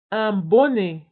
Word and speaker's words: bonnet: un bonnet. un bonnet. un bonnet. فبالنسبة للبوني تكتب بدو ان. دو ان يعني اثنان من ان. un bonnet. وأيضا تكتب بالتي في الآخر ولكن لا ننطقها.